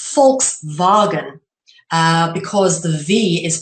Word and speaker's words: Volkswagen: an f um and it would be a w that sounds like a v in in Dutch or German so for example what some people in English would call a Volkswagen is actually pronounced fulks